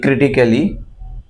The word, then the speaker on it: critically: Again, CRITICALLY. Right? নিশ্চয়ই বলবেন যে critically. No, it's not critically, it's critically.